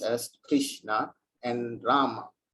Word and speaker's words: Rama: pronounced as krishna and rama rhymes with drama or sanskrit words hare